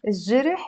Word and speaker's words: الجرح: You see, I'm not pronouncing it الجرح, I'm just saying الجرح, although jim is considered to be a moon letter, but kind of in the dialect especially we end up pronouncing it as if it's a sun letter.